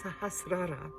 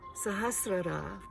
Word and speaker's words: Sahasrara: the earth and progresses upward to the sahasra sahasrara excuse the pronunciation which connects us with the universe and the divine source of creation sahasrara is located at the crown of the head